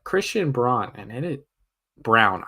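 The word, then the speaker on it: Braun: Brun and it it brown I forget he pronounces his name Brown because it just makes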